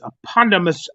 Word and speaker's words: eponymous: I think this is the eponymous ancestor one. I wanted this here goes off into Chris Harris. you ain't saying it right. It's eponymous ancestor, like Garfield said.